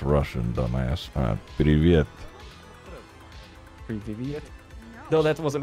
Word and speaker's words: привет: Pre-Viet? Where the fuck is a B coming from, boy? I thought that's what you wanted me to no. Focus on my pronunciation. It's V, you dumb fuck.